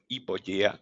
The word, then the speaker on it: Hypogea: This is Hypogea. This is a name. In fact, we are pronouncing it like English way, but it's Hypogea, which is a Latin word coming from two Greek words.